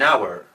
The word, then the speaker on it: hour: Ejemplos, an hour, una hora. Como veis, la H es muda, no hay un sonido como en house.